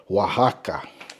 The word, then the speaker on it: Oaxaca: Queso Oaxaca. Pronounced totally different than it's spelled.